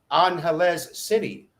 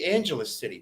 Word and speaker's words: Angeles City: pronounce tagalog words correctly you'll notice how i say angeles city that is the correct way to say it you probably don't know that though i bet you say angelus city right the a in the tagalog language language is pronounced ah not a but anyway thanks for